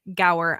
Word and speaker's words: Gower: We have yet again another special guest on today, and his name is Brian Gower.